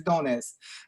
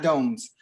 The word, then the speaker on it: Dones: And my last name is Dones, not Dones.